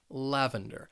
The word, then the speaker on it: lavender: Another popular color, lavender. This word has 3 syllables and the stress is on that first syllable, lavender.